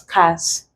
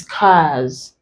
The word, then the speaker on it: cars: If you didn't know, you might have pronounced it as cars. But this is cars, lose, his, lace. The here is pronounced as Z because R is a voiced consonant.